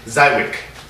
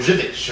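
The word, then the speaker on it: Żywiec: pronounce it or they did the obvious American zwick and it's not not zwick it's zik or zivich or something like that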